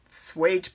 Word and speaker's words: swage: talk today about um swage blocks and lots of people don't know even how to pronounce them uh it's s W like wage so uh we have